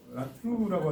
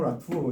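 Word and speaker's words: Latour: 그래서 우리말로 표기하기가 참 힘든데 그냥 라투 라투에 가깝다고 얘기하 제가 들었는데요.에 에 우리나라 이제 프랑스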